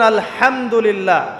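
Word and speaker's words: الحمد لله: এইতো আপনি পড়ছেন আলহামদুলিল্লাহ। শব্দটা কি? আলহামদুলিল্লাহ। এই হা এর মাখরাজ কোথায়? হা এর মাখরাজ কোথায়? বলেন একজন কন্ঠনালীর মাঝখান থেকে এখান থেকে আপনি উচ্চারণ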